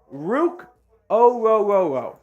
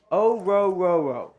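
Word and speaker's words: Ruke Orhorhoro: Personally, would have preferred Illinois' defensive tackle, Bijan Newton, but ultimately it is Rook Ororo. Ororo. That's how the pronunciation guide has it. It doesn't sound like that could even be right, but it is.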